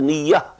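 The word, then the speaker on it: نية: We pronounce it as niyyat. but this is niyyah in Arabic, and the plural is niyyat.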